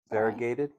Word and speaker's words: variegated: Variegated. Variegated. Varge is cool.